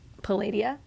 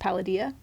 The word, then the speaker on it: Paladia: So, in my head I was uh pronouncing it um Palladia. Okay. But it's actually at least in the audiobook pronounced paladia.